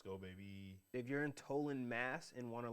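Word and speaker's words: Tolland: baby if you're in tollin mass and want to like i heard actually it's pronounced talent wait holland with a t talland oh that's corny yeah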